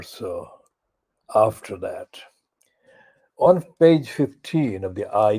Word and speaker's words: Waugh: The actual broadcast is starting a minute or so after that. On page 15 of the I newspaper, there is a piece by Paul O, that is spelled like Evelyn O, Waugh, Paul O.